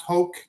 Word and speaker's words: Hauck: It's pronounced Hoke.